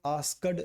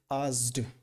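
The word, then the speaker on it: asked: form आस्ड ठीक है आप ध्यान रखना कि जो के साइलेंट है यहां पे इसे अब आकड नहीं पढ़ोगे you will you will pronounce it like आस्ड के is silent I hope you understand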